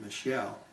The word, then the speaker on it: Michael: New England Industry was run by a man by the name of Jacob, spelled Michael, but he pronounces it Michelle.